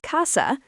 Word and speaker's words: casa: The word casa, pronounced casa, means house.